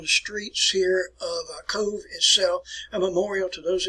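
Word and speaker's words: Cobh: bit ago it's called cove it's spelled c-o-b-h-c-o-b-h but it is pronounced like c-o-v-e code it's a quaint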